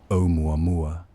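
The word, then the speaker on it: ʻOumuamua: This was the original wanderer, an object whose name, when pronounced slowly, sounds like a whisper in the Hawaiian language, Oumuamua.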